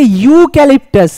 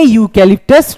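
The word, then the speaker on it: eucalyptus: এটাকে ইউ ক্যালিপটাস। ইউ। আমরা কিন্তু ইউ ক্যালিপটাস বলছি না। উচ্চারণের শুরুতে আসছে ইউ।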